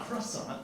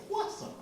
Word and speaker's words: croissant: See uh the French are really sticklers on pronunciation. So it's not croissant, it's quasant.